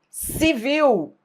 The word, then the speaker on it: civil: Civil. Civil. Aí, óbvio, você tem que pronunciar.